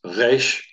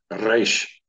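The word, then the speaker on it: ריש: If it's from the back of the throat, it's resh. My lips aren't even moving. Resh, it's coming from the throat. And if it's a trill, it's resh. Resh.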